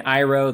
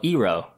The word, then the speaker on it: Iroh: And Iroh they call Ero.